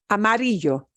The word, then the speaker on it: amarillo: Oh, ends in a vowel. We should be punching the second to the last syllable. Amarillo.